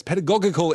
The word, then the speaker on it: pedagogical: Is the second G in pedagogical? I've just realized that I've never pronounced that word out loud. Pedagogery. No, both would be hard G's. Yes, pedagogical innovations of Dolores Umbridge.